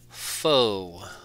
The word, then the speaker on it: faux: fly of the day flow is spelled f a u x foe save that one for